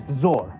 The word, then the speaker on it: Vzor: My birth name is Vzor. So in the English alphabet, you'd spell it V-Z-O-R. But you go by Vyor with a Y, not Vzor with a Z.